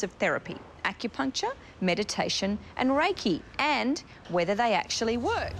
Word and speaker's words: Reiki: Just explain to us then how Reiki works. I pronounced it right, did I?